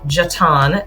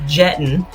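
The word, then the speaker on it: Jetton: the way in, yes, it's pronounced Jeton, not Jeton, which I used to call it that when I first moved here. Thank you to those who corrected me on that.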